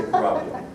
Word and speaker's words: Kurapia: So if you're wondering why is this such a difficult name to pronounce, just think of the word tilapia and say Kurapia.